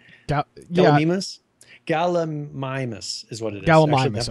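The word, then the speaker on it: Gallimimus: Galamimus is what it is. Galamimus. Okay. Yeah. They have a Oh, they have a pronunciation.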